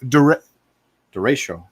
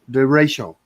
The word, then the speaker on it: Derecho: Pronounce the name of the storm. Adero? Or Derecho? Derecho. Derecho.